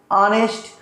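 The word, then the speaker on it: honest: ओ से प्रनंसीएशन करेंगे तो क्या होगा ऑनेस्ट aanest और आप पढ़ेंगे तो किसी का अंग किस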